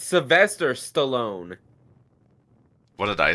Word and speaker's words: Sylvester Stallone: No, it's Sylvester Stallone. What did I say? I don't know. No, it's just that, like, I recognize the last name Stallone, yeah, but you mean Sylvester Stallone. Sylvester Stallone?